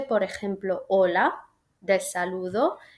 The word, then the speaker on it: hola: La H en español no se pronuncia, es un sonido silencioso. Y hay palabras que se escriben con H, por ejemplo, hola, del saludo, y hola, de la ola del mar.